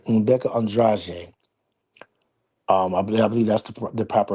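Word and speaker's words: Rebeca Andrade: I believe I'm going to say this right, Rebecca Andrade. I believe that's the proper pronunciation for that.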